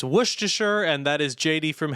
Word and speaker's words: Worcestershire: It's pronounced Worcestershire, and that is JD from Heather's.